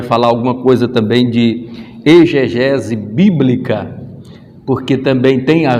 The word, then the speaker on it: exegese: Por incrível que pareça, a gente se pronuncia muitas das vezes aí exegese, mas ela não é, porque ela vem do expor, então ali esse X ele não vai ter o som de dizer, não, é exegese bíblica, e a gente